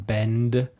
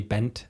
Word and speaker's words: bend: So there's a difference in English between bend and bent, and Germans tend to say bent. Yeah, because for us, when there's a D at the end of a word, we usually always pronounce it as a T in German. But in English, there's a pretty big difference between the two.